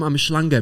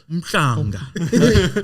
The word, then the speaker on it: Mhlanga: This is yes, it's because you sound like you from Umhlanga, bro. Yeah. No. It's not Umhlanga. It's not Umhlanga. It's Mhlanga. That's how you say it.